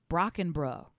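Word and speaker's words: Brockenbrough: him for so long his name is actually pronounced Brock and bro so it's and his his sister is um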